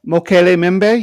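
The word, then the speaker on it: Mokele-mbembe: Is that how you pronounce that? Mokele Mimbe.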